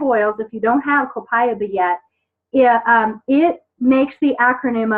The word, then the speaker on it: Copaiba: Copaiba is how it's pronounced, is one of our newer oils, so it's just been added to this mix.